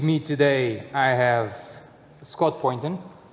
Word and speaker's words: Poynton: With me today I have Scott Poynton. Did I pronounce it right? Yes, you did.